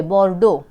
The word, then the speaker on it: Bordeaux: बोर्डो साइलेंट है पीछे के वर्ड।